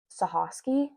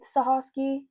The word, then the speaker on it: Sochocky: The video that I watched said it was Sochosky, but it's spelled Sochocky. So we're gonna go with Sochosky because I assume that the guy in the video like knew what it was, but whatever.